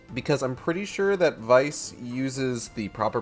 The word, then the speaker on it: Weiss: I'm pretty sure that Vice uses the proper pronunciation where the W is pronounced as a v so I would have to say like grimoire Vice ven's day I want